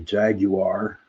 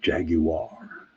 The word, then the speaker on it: Jaguar: which is your past the Jaguar that's how they say it in England Jaguar in the present in